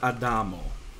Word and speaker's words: Adamo: me take this word adamo right that would be a proper name it's like adam but the stress always follows uh falls on the second to last syllable of the word so in english we'd